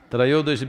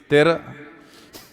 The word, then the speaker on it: Trayodashi: North Indian people must connect, don't go on clipping away one syllable and come Dhanavantari becomes Dhan, Trayodashi becomes Tera. Don't keep clipping it away.